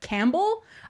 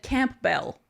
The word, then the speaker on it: Campbell: That I mean, this one I should have known maybe, but Campbell, I just said Campbell. That I thought for sure that was Camp Bell.